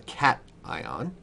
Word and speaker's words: cation: call this a cat now it's not called cation it's called cat ion